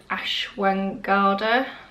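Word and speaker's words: ashwagandha: a if you like this is called Ashwin guardar that's how you pronounce it properly and it's like a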